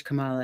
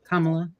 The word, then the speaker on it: Kamala: give some mother sorry I said it wrong Kamala commala I fixed it's hard it's because you hear it both ways so much you know I know